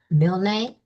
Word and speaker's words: Milne: But today, I have Milne. Is that how you? Yeah. Okay, Milne. Uh-huh. One syllable.